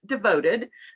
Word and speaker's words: Devoted: So I just wanted to let you know I'm with Devoted. It's spelled DVTD. It's Devoted with all the vowels taken out.